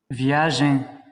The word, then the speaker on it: viagem: Viagem. Viagem. Again, this M here is just orthographic, right? You're not pronouncing it. You're just making the E nasal.